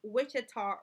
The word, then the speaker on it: Ouachita: label is going to be the Wichita River. And then after you draw that, it should look like this. And that is spelled Ouachita River.